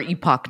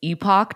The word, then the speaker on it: Epoch: series the thing is I think it's Epoch times because that's how Epoch is spelled but through doing that series and you constantly saying epic times I've just now now I just say Epic Times And now when I